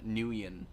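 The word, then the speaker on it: Nguyen: amount of the population has last name nuyen but i think it's spelt nyg no en i think yeah something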